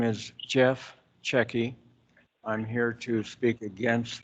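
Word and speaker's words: Cecchi: name for the record my name is jeff checky i'm here to speak against this proposal what's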